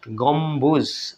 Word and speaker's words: গম্বুজ: এভাবে দেখুন তিব্বত, এখানে বয় ব দুটো বয় উচ্চারণ হচ্ছে, তিব্বত, গম্বুজ, এখানেও ব উচ্চারণ হচ্ছে দেখুন, গম্বুজ মানে খুঁটি।